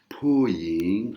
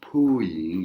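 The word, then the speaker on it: ผู้หญิง: ผ ู ้ ห ญ ิ ง Puying, hein, Puying, il y a de l'air qui sort.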